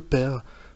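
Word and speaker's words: pear: la famille Pomme, et il prononce père, donc poire en anglais, à la française. Donc ce qui donne, comme je l'ai dit, père.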